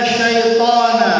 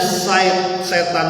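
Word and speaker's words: شيطان: Inna syaitana lakum aduun fattakhidhuhu aduwa innama yad'u hizbahu liyakunu min ashabis sa'ir. Sesungguhnya setan itu syaitan. Bacanya sebenarnya syaitan. Kita udah biasa di Indonesia nyebutnya setan aja dah.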